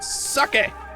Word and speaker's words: sake: It's better to make it into complex goods like sake.